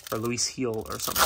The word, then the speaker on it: Luis Gil: wrong I I was always thought it was Luis Gill but it was uh it's actually pronounced Luis Hill or Luis heel or something like that but I don't know